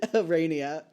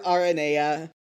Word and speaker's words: Aranea: Arania. It's Arania, or Arania, or Aranea. Which Domi pronounced it once, and she said that was how it's supposed to be pronounced in, Greek or something.